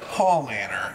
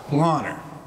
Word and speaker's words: Paulaner: honor nobody knows but it looks like Paul Manor and that's the way a lot of people in the states pronounce it but well we're not going to do that whole honor pull honor so right back down